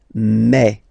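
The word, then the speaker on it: mes: Okay, so for the phonetical or pronunciation aspect of it, then remember that this es here combined will give you the sound eh. Okay, so you'll pronounce it like me.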